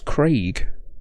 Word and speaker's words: Craig: great it's bloody craig why do americans say it like that by the way it's craig like cray with a g on the end craig not craig there's no e in the whole name so i don't understand